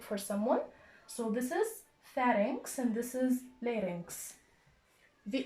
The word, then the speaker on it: pharynx: I found some difficulty pronouncing the word, so I wrote myself a note how to pronounce it. It's pharynx.